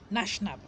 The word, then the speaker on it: gnashnab: Then the next one is Nashnab, and Nashnab is spelled GnashNab.